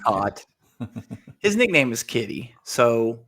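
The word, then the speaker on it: Kaat: for the tiger lies oh Jim cat as we like to say actually pronounced cot his nickname is Kitty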